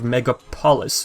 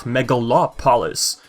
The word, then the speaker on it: Megapolis: Within Planet Endako lies the city of Megapolis, not Megalopolis, but Megapolis. Megalopolis is, yes, similar to Megapolis, but with an extra syllable.